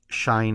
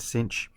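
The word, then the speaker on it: sinh: to stick with uh but shine is another one but cinch and then you have the Kosh the tan the Coan the sich and the K okay really getting that CH sound at the end of these and so what this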